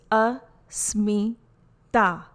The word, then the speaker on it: asmita: be a limited being pronunciation is a letter t is a soft dental sound again the sound is a smee ta this is sutra 2.6